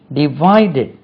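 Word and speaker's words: divided: தி students தே டிவைடட் டி விஐ டி இடி டிவைடட் stress lies on we they டிவைடட் the sweets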